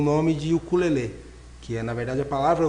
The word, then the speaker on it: ukulele: A pronúncia correta é ukulele mesmo.